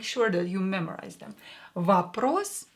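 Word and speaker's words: вопрос: that you memorize them vapros is a question or will be pronounced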